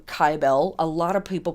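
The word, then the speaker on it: Cybele: sweet old gal named sybil or kybell i pronounce her name kybell a lot of people pronounce her name sybil they spell it with a c i spell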